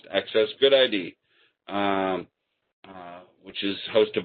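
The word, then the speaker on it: AccessGUDID: the open FDA and access good ID actually is the way I'm I'm hearing it pronounced access good ID um uh which is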